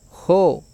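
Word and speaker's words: ὁ: Recuerde que esta palabrita tiene espíritu fuerte, por eso se pronuncia jo.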